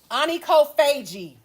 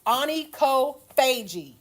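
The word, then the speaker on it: onychophagia: Anie Kofagi. That's how that's pronounced. Anie Kofagi.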